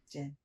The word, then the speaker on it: Jin: It's one syllable? I'll give it to you. Jin. Yeah.